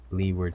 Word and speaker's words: leeward: way to remember it leeward side rhymes with p word side that's an important one